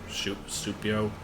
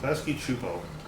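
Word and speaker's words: Klasky Csupo: Supio? I forget how you pronounce that. Klasky Chupo. For some reason. Don't ask me why that's the pronunciation.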